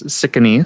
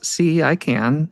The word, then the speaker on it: Cicanese: And um and then if we look at my name, it's sick or in Italian it's like to think of it as see I can. It's easy cuz e s easy.